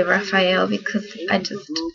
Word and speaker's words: Raphael: it talks about his name which is actually pronounced raphael but i say raphael because i just like it better but i'm